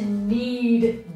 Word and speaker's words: knead: together with your hands it's spelled need k n e a d that's different than when you need something like i need me a piece of pizza that's who words that sound exactly the same spell different and